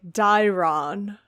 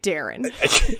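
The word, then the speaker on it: Daeron: I know his name is, like, Dairon, but yeah, no, you're right. I say Darren.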